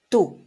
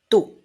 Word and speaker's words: tú: So, yo, yo, tú, tú. Remember of not doing a T very strong, right? Like in English, like two, but you want to make it very, very soft.